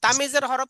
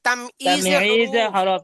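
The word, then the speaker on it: تمييز الحروف: যদি বলেন তামিজের হরফ, এটা ভুল কথা। এটা হচ্ছে তামিজে হরুফ। তামইজে হরুফ। তামিজে হরফ অর্থাৎ হরফ না তো, কাছাকাছি শুনেন, উচ্চারণের। হরফ না, এটা হচ্ছে তামিজে হুরুফ, মানে হরুফ। হরফের বহু বচন, হুরুফ হুরুফ।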